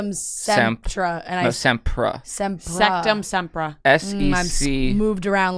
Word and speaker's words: Sectumsempra: Septra. Yeah, that's it. Say it again. Septra. Incorrect. Really? It's Sectum Sempra.